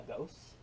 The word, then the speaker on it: gose: and a gose, a Mhm. gosa. I think it's pronounced gosa. Tell me if I'm wrong.